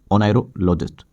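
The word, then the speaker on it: oneirologist: उसे कहते हैं नारोलॉजिक नायरो लॉजिस्ट यह स्पेलिंग बहुत ज्यादा इंपोर्टेंट है ओ एन ई आई आर ओ नायरो और लॉजिस्ट लॉजिस्ट यानी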